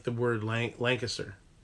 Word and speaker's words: Lancaster: like the word length Lancaster should be three level three so should be three syllables Lancaster but if you're from here you never say Lancaster or you say Lancaster you just kind of slam it all together and spit it out do you see that